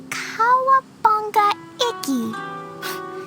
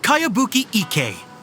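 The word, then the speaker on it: Kayabuki Ikkei: By Kawabunga Iki. Yoimiya, this is a really strange name. Who's this Kawabunga? It's pronounced Kayabuki Ike.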